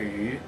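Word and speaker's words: 鱼: It says like because And this fish is pronounced like yu.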